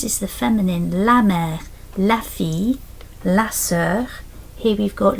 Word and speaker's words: la fille: And then down here we've got la fille. It's a bit like a y sound, like a y.